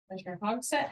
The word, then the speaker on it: Hogset: commission DAV not here hogset how is that how you say your name yes H I'm assuming you're